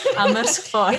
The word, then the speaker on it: Amersfoort: Meiko ini tinggal di kota Amersfoort ya, bener ya? Ya. Nggak Ya. salah ngomong, saya udah fasih Enggak, pengucapannya. benar-benar Amersfoort. Ya. Amersfoort.